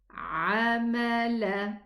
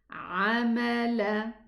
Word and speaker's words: عمل: And then we have عمل, عين فتحة, ميم فتحة, لام فتحة. عمل. Let's connect. لا أضيع عمل. And make sure that you pronounce both عين properly.